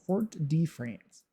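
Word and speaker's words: Fort-de-France: Fort Def France. Fort de France to Fort de France is the correct pronunciation.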